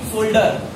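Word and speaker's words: shoulder: word is सोल्जर सोल्जर what is this pronunciation will be सोल्डर what सोल्डर and this pronunciation will be सोल्जर ज and okay सोल्डर एंड सोल्जर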